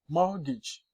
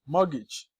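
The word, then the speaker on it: mortgage: silent I Cano shalet morgage morgage s s the t is silent and apost don't say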